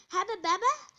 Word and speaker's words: Hubba Bubba: Have you ever wanted to buy some Hubba Bubba? It's pronounced Hubba Bubba, but I have a very squeaky voice, okay?